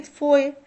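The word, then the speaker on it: foe: Shoe is never rhyme with फोए। अब यहाँ पे स्पेलिंग OE है, लेटर अगर हटा दिया जाए तो सेम है, लेकिन इसको हम फोए पढ़ते हैं और इसको शू पढ़ते हैं।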